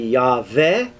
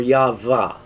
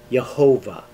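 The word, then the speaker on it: Yahweh: that a little bit the yah form certainly appears in scripture by itself so we know that the yodhai vav hey was pronounced with a an a val yah and then the two possibilities uh for ending it would be yah ve or ya'va and uh there are variations of that but in no case uh could it be pronounced jehovah in jewish tradition the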